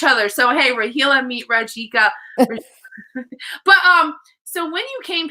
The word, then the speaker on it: Rajika: know how to pronounce her last name, and she said you got to say the J.